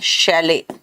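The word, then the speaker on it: chalet: देखो सूरज जायसवाल, बेटा MTS के लिए कोई अलग से बुक नहीं होता, चलो ये जरा देख लो, इसका प्रोनाउंसिएशन पता क्या होता है, शैले, और इसको कहते हैं माल गोदाम।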